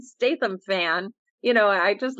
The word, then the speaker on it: Statham: St Stam thank you I always say his last name wrong Jason Stam I'm a huge Jason Statham fan you know I